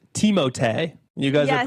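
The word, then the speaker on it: Timothée: Timothy Shalomé actually I I don't know much about him.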